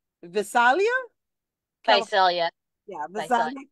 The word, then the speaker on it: Visalia: Visalia, California.